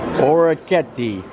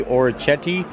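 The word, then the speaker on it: orecchiette: those sound like fancy or a kettie that's the way you actually want to pronounce it i had to look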